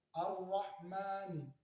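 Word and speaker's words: الرحمن: Alif lam syamsiyah ini adalah kita membacanya langsung melebur ke huruf selanjutnya tanpa dibaca lam matinya. Contoh, bismillahi, bismillahi, ar-rahmani, ar-ra, yaitu ada alif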